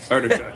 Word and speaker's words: Artichuk: Artichuck.